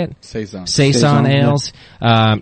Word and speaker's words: Saison: Saison.